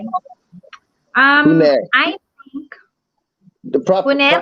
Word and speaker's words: punir: Pune. I think The proper puner. proper. Yeah, the R is silent.